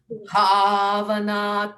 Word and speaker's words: Bhavana: Bhavana Tashchitta. Sometimes it's just plain difficult to get it, that not, well, it's a Maha Prana, but also the Ghosha sound.